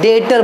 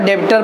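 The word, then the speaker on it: debtor: चले बच्चों आगे हम लोग नेक्स्ट है, वो बी है डेटर बोलते, बी साइलेंट है। बहुत लोग डेबिटर पढ़ते हैं, डेबिटर, बट B silent, डेटर्स।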